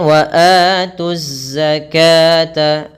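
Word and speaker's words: وَآتُوا الزَّكَاةَ: Waatu, jangan terlalu lama. Jangan mengucapkan waatuzzaka, kesalahan umum adalah memperpanjang mad thabi'i, mad badal, atau mad iwad lebih dari dua ketukan. Kemudian, waatuzzakata sama seperti kasus sebelumnya, alif dianggap tidak diucapkan. Alif di tengah yang bertemu dengan lam ini adalah alif lam syamsiyah, sehingga 'tu' langsung ditashidkan dan menyatu dengan zai, yang membawa tashidan; Lam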